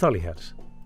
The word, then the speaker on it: Holyhead: is it holyhead Holly it's Holly hat yeah Holly can I feel like it's built holy well maybe it was maybe that's what it was supposed to be originally but people have mispronounced it right foreign to